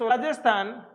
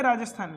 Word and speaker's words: राजस्थान: Population of राजस्थान is equal to 570 lakh and population of यूपी इज राजस्थान। अच्छा, राजस्थान को मेरे कुछ दोस्त राजस्थान नहीं बोलते, पता है, और राजस्थान बोलते हैं, जे साइलेंट होता है।